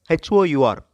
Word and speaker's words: hour: work and are before h.o.u.r however in solo qra the h is silent and r before i